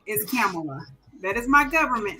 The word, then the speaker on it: Kamala: when y'all respond, but do y'all think what Kamala can become is greater than what Michelle did?